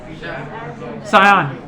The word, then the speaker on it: Sion: It's written in English as S-I-O-N. Sayan. What is? In English, S-I-O-N is Sayan, but the local name you call it Shiv.